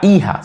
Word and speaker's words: hija: Daughter would be la hija, simple, la hija, daughter. So el hijo, repeat, el hijo. Remember the H is silent.